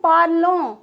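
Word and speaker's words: parlent: नू पार्लो, we speak, वो पार्ले, you speak in formal way, right. Ill plural and L plural, वो इल plural और L plural पार्ल। ENT साइलेंट होता है, इसका मतलब होता है दे स्पीक।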